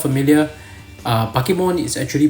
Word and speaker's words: Bakemon: cake cuz that's how you know you put pronounce b a k e but it's not bmon it's not bigon or whatever that back then